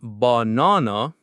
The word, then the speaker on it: banana: In America, we stress the middle syllable, banana. So the middle nan is strong and clear. That means the first and last syllables are weak. They are unstressed. And the vowel in those weak syllables, you guessed it, turns into a schwa.